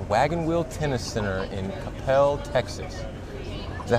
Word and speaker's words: Coppell: We are at the Wagon Wheel Tennis Center in Coppell, Texas. Is that how you pronounce it?